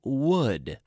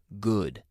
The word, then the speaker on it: would: with the pronunciation of would would because I hear a lot of my students say good or similar but would now with this word it's important to think of the Spanish word for egg honey how do you